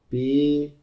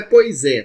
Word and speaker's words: poise: E a gente escreve ela assim, ó, P-O-I-S-E, tá? Não é poisé, tá, pessoal? A pronúncia aqui a gente fala poise, tá?